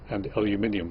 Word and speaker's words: aluminium: It's worth making the point that the aggregate number of jobs in the United States in the steel and aluminium, that's the British pronunciation, of industries is about 0.1% of total US employment, 160,000 approximately.